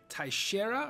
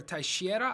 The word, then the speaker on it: Teixeira: I believe it's pronounced Teixeira or Teixeira. I'm not 100% sure. I believe the X is pronounced SH.